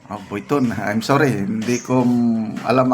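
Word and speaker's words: Louis Vuitton: Ituloy natin gusto ko lang pong sabihin sa inyo na meron po akong gift but watcher ng Louis Biton. Buiton. I'm sorry. Hindi ko alam ang pronunciation.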